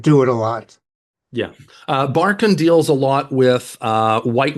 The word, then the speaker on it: Barkun: Barkun is spelled Barkun. Barkan, sorry, you pronounce it Barkan.